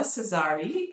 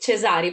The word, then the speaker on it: Cesari: It's Chesari. I've always I lived for a little while in the US and I'm very used to this more gentle way of pronouncing it.